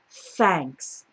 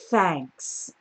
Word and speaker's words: thanks: you for calling uh so really important to get a good th sound at the beginning of thanks thanks all right we also